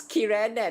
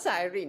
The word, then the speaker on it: Kirene: It's Kirene, not Cyrene. That's why I forgot. Kirene, easy to remember.